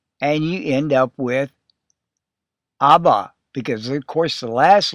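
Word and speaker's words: אבא: And then you have the B consonant with the A vowel and you end up with abba because of course the last letter alf is silent. Aba, father.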